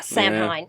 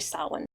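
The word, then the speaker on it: Samhain: Sam Hine. And that's how many pronounce it. It's like No, it's actually sin.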